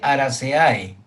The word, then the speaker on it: Araceae: Se escribe Araceae, pero se pronuncia Arace.